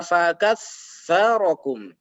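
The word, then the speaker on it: فَكَثَّرَكُمْ: Yang seharusnya bacanya adalah fakatsarakum. Fakatsarakum. Ujung lidahnya sedikit keluar. Menjadi salah ketika menjadi sin.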